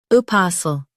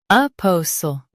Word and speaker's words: apostle: Apostle. Now, read the syllables of British pronunciation shown on the screen naturally. Po. Sul. Apostle. Po. Sul. Apostle. Stress pa in US, po in UK. Keep sl soft.